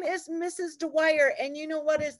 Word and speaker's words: Dwyer: all the time and my name rhymes with the word choir so it's like the